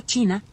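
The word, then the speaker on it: qi: En la antigua China la salud nunca se trataba solo de carne y hueso, sino de energía.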